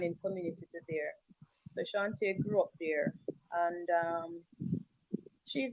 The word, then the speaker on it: Chauntai: And her name is Chantal Samuels. Chauntai Samuels. Shantae. Yeah, Chauntai, yeah. How do I get? Is it spelled with T-A-L at the end? No, it actually spelled with T-A-I. Oh wow! See what we have here. Chantal or Shante. All right, Shante. Let me go ahead and correct that.